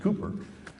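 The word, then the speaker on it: Cowper: the poet uh uh it's spelled calper but it's actually pronounced cooper said he works in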